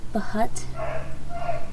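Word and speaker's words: Bhut: It's supposed to be the, I don't know if the B is silent, but it's B-H-U-T. So, Bahut.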